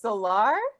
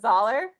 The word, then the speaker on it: Zollar: it was pronounced differently it's solar okay how do you say dollar dollar yeah so it's dollar yeah all right starting